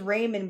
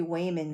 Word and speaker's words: Waymond: It sounds I thought it was Raymond, but it's supposed to be Wayman.